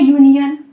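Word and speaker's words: union: इसी तरह हम बोलते हैं यूनियन, ठीक है, यूनियन, यूनियन के आगे भी क्या यूज होगा, यूनियन के आगे भी अ यूज होगा।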